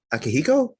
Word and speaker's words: Akihiko: down the list um akihiko is that correct please please tell me how to pronounce that yeah it's correct people call me just